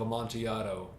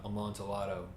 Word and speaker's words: Amontillado: Even if he does fuck up the pronunciation of Amontillado, it's not Amontillado, please.